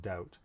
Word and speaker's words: doubt: sounds but it does sometimes show up as a silent letter in english writing like in thumb and doubt so the b wouldn't show up in the phonetic transcription of those words the next sound produced